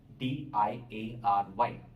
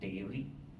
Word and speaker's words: diary: DIARY, diary. I'm pronouncing it as diary, not dairy.